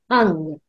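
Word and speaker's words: Heng: beautiful Orange light and the Mantra here is hung h u n g hung it's written as h e n but we pronounce it as h u n g so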